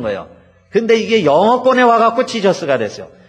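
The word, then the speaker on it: Jesus: 근데 이게 영어권에 와가지고 그 제의를 발음을 하죠. 그래서요, 원래 헬라어로도 예수스가 맞아요. 우리 한국말이요, 더 정확합니다. 예수 그러면 되는 거예요. 근데 이게 영어권에 와갖고 지저스가 됐어요.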